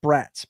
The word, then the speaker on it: Bratz: But this is pronounced Bratz, man. They're supposed to be bratty. They're bratty girls is what they are.